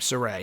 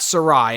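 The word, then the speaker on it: Sarray: i believe is zayus say her name soray not sarai as i was saying a week ago i think it's soray sarai's debut on nxt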